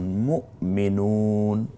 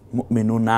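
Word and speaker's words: مُؤْمِنُون: আমি আগেই বলেছি যেমন মুমিনুন মুমিনুনা হবে না মুমিনুন এখানে শুধু নটা উচ্চারিত হয় যেমন কাফারু কাফারু না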